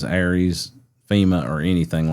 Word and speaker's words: ARES: And then races, or I've called it races as well, but just because of ARIES, ARES, that's commonly how that's pronounced.